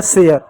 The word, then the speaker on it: share: का र लिख दिए, ई साइलेंट होता है तो हो गया शेयर।